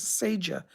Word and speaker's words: Seja: She spelled it S-E-J, Seja. She pronounces Seja.